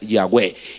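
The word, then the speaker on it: Yahweh: nombre sagrado dicen que la pronunciación entonces más cercana es yahwe y qué quiere decir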